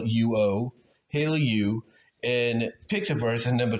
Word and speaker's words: Hailuo: lead at number one I would say h Halo you h a which again is spelled h a i l uo Halo U and pix verse and number three runaway and